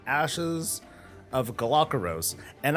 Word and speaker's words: Galakeros: was called ashes of galakeros and i pronounced it as galacaros and it didn't really occur to me that this was supposed to be a play on the galapagos islands hey fancy that that's